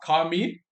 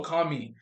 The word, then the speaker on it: Commis: So generally, a line cook, also called a kami. Some places, so that's spelled Commis. So kami.